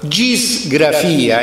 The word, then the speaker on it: gisgrafia: De Laboribus Hercules, chiamandola gisgrafia, e si capisce perché è ges, con l'eta, quindi la pronuncia bizantina diventa gis, la gisgrafia di Tolomeo, che come si chiama?